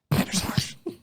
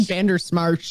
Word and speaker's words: Bandersmash: Bandersmash. I think you even said it wrong that time. I think you said Bandersmarsh.